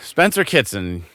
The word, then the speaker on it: Spencer Kitson: So, Spencer Kitson, am I pronouncing that correctly?